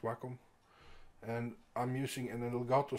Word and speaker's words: Wacom: I have my Wacom, it's pronounced Wacom.